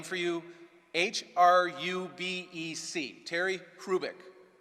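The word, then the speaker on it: Hrubec: for you h-r-u-b-e-c Terry krubick the H is not pronounced Terry Rubik she did studies of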